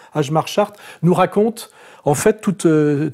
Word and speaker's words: Hjalmar Schacht: Et ce qui est intéressant, c'est que ce monsieur qu'on prononce Ajmar Chart, n'est-ce pas, enfin, qui s'appelle comme ça, mais ça se prononce Chart, oui, Ajmar Chart, nous raconte en fait